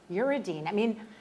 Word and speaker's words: uridine: How do you say uridine?